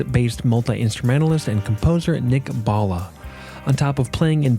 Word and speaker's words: Bhalla: any further Ado here's my interview with Nick Bala on the ear coffee podcast today I am